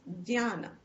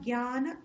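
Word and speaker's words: jñāna: So many times people pronounce it as jnana. We say jnana. In North it's become jnana. This sanyukta akshar has one sound, but there are two syllables.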